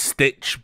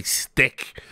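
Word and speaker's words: Stich: to have a guy, I believe it's pronounced Stitch, but some people have, I've heard people say Stick, like with a hard K, because it is like S-T-I-C-H, but I always thought it was just Stitch. So I've never heard his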